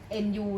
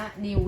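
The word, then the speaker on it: nü: จะ ออก เป็น อ่า nu เนี่ย เรา จะ อ่าน ว่า นิว แล้ว กัน นะ คะ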